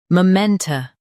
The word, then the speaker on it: memento: muh men tuh momenta Stress men and keep tuh soft.